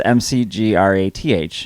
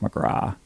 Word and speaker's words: McGrath: so our name is m-c-g-r-a-t-h in ireland that's pronounced mcgraw but most people say mcgrath would you agree most